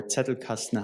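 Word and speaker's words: Zettelkasten: He wrote 70 books, 400 papers and developed this very famous Zetle casten system or Zetel casten, how you pronounce it in German, generating, you know, 300,000 citations to this date.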